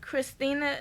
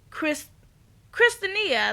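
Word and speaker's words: Kristinia: Mazel, who is Jam Master Jay's son, and Christinia, I believe that's how you say it. Christina? No, it's not Christina. It's Christinia, I think.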